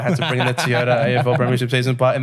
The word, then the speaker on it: Toyota: And that, ladies and gentlemen, wraps up the 2024 Toyota AFL Premiership season. I don't know why I had to bring in the Toyota AFL Premiership season part in there, but it just feels official.